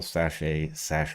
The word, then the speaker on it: sachet: was something they arrived at after careful sachet B testing.